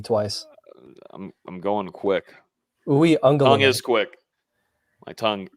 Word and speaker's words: Uiagalelei: Give us a pronunciation guide. Break it down for us. Uiagalelei.